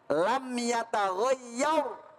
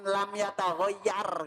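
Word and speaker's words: لم يتغير: Pemirsa, ini tadi Bu Arafah bacanya lam yataghayyar pakai tafhim tebel, dibaca Tebel. jangan lam yataghayyar begitu ya.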